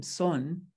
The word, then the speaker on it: Son: a significant influence on korean sun buddhism because that's how it's pronounced in in korea now we have zen